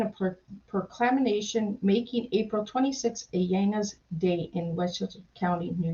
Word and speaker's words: Ayanna: Okay, but first, my name is actually pronounced Ayanna.